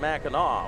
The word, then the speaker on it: Mackinac: mackinac why is it mackinaw well it comes from uh people french traders coming in and the pronunciation of the ac was actually aw and it comes from